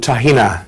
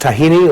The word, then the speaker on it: tahini: here this is called tahina this is the Lebanese writing here but if you turn it over you can see Lebanese Takin air sometimes it's pronounced tahini or tahine or tahina either way I'll show